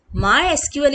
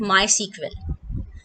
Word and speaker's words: MySQL: माई एसक्यूएल is pronounced as माई एसक्यूएल, बट इट is also called माई सीक्वेल।